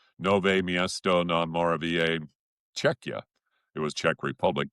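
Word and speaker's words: Nové Město na Moravě: Nove Miesto na Moravia."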